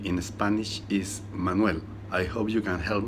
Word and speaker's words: Manuel: For the first syllable is man, the last syllable is L, and the middle syllable is going to be a really short U sound. Manuel. Remember to make it a dark L at the end.